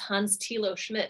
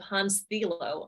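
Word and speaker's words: Hans-Thilo Schmidt: how I figured out it was pronounced Hans tilo Schmidt instead of Hans filo because I've been just going around pronouncing it wrong the entire time that's incredible I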